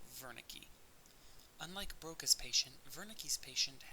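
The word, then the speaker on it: Wernicke: see in the text is spelled with a W but because he was a German researcher his name is pronounced as if it were a v so Veri unlike brok's patient Vern's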